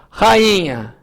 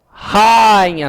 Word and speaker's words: rainha: aqui colocar aqui embaixo olha aqui ó rainha olha lá ó rainha não rainha ó é o i que é tônico certo o a é